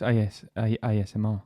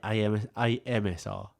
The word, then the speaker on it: ASMR: ASMR. That's one of the first times you got that right. It's ASMR. Yeah. You always say AMSR. I think it is AMSR, actually. It's not. It's ASMR.